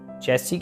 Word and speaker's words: chassis: CSC Prem and body चेल्सी के spelling ही अच्छे glass IS होते हैं बट इसको बोलते सैस नहीं बोलते कुछ ऐसी बोलते हैं और चेल्सी होती क्या